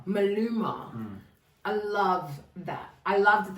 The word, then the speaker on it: Maluma: Maluma. Maluma.